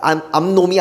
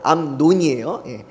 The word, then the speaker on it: 암논: 발음 잘해야 됩니다. 암놈이 아니고 암논이에요.